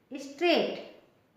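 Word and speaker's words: straight: आई जी एच टी स्ट्रेट इसमें जी H silent है स्ट्रेट गो स्ट्रेट गो स्ट्रेट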